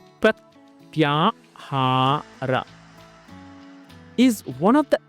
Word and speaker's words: Pratyahara: Pratyahara, pronounced Pratyahara.